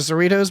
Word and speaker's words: Cerritos: It could be that's only on the Cerritos because it's a California class ship. Cerrito rhymes with burrito.